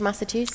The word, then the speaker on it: Massachusetts: But then somebody put in Slido, he used to be Senator of Massachusetts.